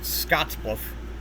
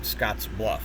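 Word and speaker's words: Scottsbluff: Um, other synthesizers will pronounce it Scotsluff, but it's actually pronounced Scotsluff even as one word.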